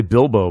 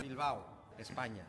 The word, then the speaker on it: Bilbao: I want to say Bilbo, but it's not The Hobbit, so. Bilbao, España.